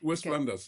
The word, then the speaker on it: West Flanders: Fllanders I'm not I'm not sure if I'm pronouncing it correctly that's correct West Flanders yes West Fllanders in Belgium and very very conservative area.